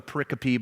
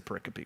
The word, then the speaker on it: pericope: googling the word pericope it's spelled exactly the way it sounds it means a group